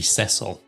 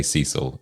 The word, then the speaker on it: Cecil: hotels in the world I think it should be cesil I yeah I have to correct myself every time CU I I see cesil but then I hear other people Americans say Cecil and it just what is